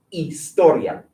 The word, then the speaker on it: historia: Historia. Ah, débil. Repetir. Historia. Historia. Esta letra aquí, ¿se pronuncia? Is it get pronounced? No. So act like it's not there, and that's why it's historia. Historia.